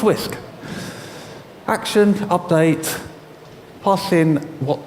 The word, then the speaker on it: wsk: WSK, Whisk. It's pronounced Whisk.